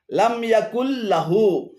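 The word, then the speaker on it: لم يكن له: এখানে লামিয়া এবং কুল্লাহু উভয়টি ভুল উচ্চারণ। শুদ্ধ উচ্চারণ হবে লাম ইয়াকুল্লাহু, লাম ইয়াকুল্লাহু।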